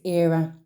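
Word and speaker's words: Éire: it out the name of the state is era now that's in English is how era is spelled right and in the English language Ireland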